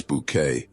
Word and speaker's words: Bucket: With her insistence on pronouncing Bucket as Bouquet, Hyasin is more than just a laugh.